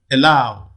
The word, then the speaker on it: allow: in clearing okay be allowed allow the primary stress force on the second we are looking for